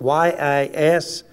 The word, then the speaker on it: Yisrael: It's spelled Q-E-D-O-S-H, like Qedosh, but it's Qedosh, K-A-W hyphen D-O-S-H, yes, or like Y-I-S-R-A-E-L, or A-I-L, Yisrael.